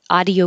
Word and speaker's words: audio: And that brought up that the pronunciation audio uses ah, not ow.